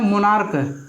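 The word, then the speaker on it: monarch: अब जैसे यहाँ पे आता है मोनार्क, यानी कि ये मोनार्क है तो मोनार्क में यानी कि सी एच का उच्चारण क्या आया, क आया।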